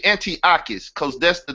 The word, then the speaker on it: Antiochus: speak again no he's how do you say Antiochus because that's the name so people will know